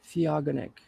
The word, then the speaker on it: theogonic: okay theogonic definition hmm see agony siagonik is how you say it what does it mean